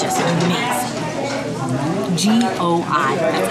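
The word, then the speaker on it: gỏi: G-O-I. That's how you spell it.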